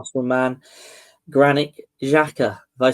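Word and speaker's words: Xhaka: Granite Jaca.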